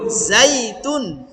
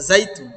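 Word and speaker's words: زيتون: যাই জাইতুন জাইতুন জইতুন লেখা আছে জইতুন জইতুন না যাইতুন গাইনি ইয়া জবর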